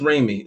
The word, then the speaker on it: Raimi: irani down there so let's go ahead it's pronounced Raimi because I just think all right so today